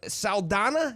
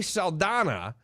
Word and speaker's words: Saldana: But also, we're going to talk about Zoe Saldana.